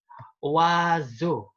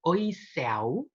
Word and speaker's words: oiseau: wah oke ingat-ingat teman-teman jadi bukan oi tapi wah contoh wazu wazu bukan oiseau atau iso tapi wazuh noah hoah noah noah